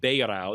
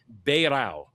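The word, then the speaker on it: Beirão: I'm pretty sure it's pronounced ber. The ei in Portuguese is always an a sound. So, leour beo.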